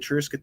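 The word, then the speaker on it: Tir Ysgithr: in the Barony of trisket there uh for those of you who can't pronounce it say Triscuits and beer it works it works we have a good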